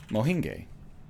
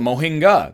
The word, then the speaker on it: mohinga: more about mahine gay it's classic Mohan gay soup oh it's called mohinga the restaurant lied to